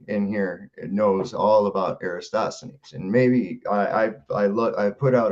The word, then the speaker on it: Eratosthenes: I may be mispronouncing this. Eratosthenes, who in 276 to 194 BC carried out. Eratosthenes.